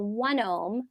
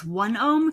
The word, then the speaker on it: OneOme: Now the Mayo Clinic developed a test called 1-ohm, and it will come right to your house.